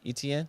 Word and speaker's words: Etienne: Travis Etienne, ain't that how you say his name? Etienne. ETN, yep, ETN.